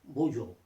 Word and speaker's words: bonjour: j o u r Bojo generally uh in French if the word has a consonant as the last letter that last letter is silent it is not bonjour